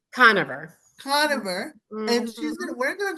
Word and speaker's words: Conover: Conover.